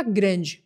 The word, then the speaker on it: grande: a palavra GR GR ela se escreve parecido com o português mas na pronúncia ela muda bastante GR significa grande mas nesse caso é masculina se for no feminino a gente fala grand grand a gente coloca a letra e no final e passa a pronunciar a letra D grande significa dia um